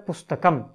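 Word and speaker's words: पुस्तकम्: कर्म रहता है कर्म उसके पर हम एक बिंदी लगाते हैं अनुस्वार लगाते हैं और उसका उच्चारण हो जाता है पुस्तकम फिर पटते पढ़ता है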